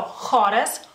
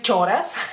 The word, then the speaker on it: choras: eh en las palabras Como por ejemplo joras joras que sería coro para ustedes c h es otro sonido así que no se vayan a confundir no al ver palabras lituanas o en lituano no vayas a no vayan a decir choras choras que se No no